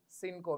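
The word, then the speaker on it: cinco: सीओ सी आई एन सीओ उ चता ई सिन को मीस 8 एंड फ ओ चता ई सिंको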